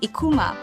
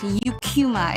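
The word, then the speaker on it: Eucheuma: And I I would hear Japs pronounce the name of the seaweed species as Ekkuma. The scientific name is pronounced Yukuma in English.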